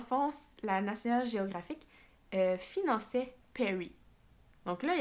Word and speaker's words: Peary: Donc, ça se peut que je le prononce pas comme il faut, là, Perry, mais je pense que oui, là, Robert Peary.